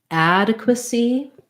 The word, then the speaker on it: adequacy: c competency or competency adequacy adequacy um we have first syllable stress ah that black cat vowel add a so you would that would sound like ad uh see adequacy uh